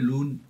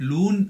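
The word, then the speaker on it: Luhn: एल्गोरिथम जिसका नाम है लोन एल्गोरिथम बट लून I guess जहां तक मुझे याद है ये एच साइलेंट है इसमें सो इट्स अ लून एल्गोरिदम है ना तो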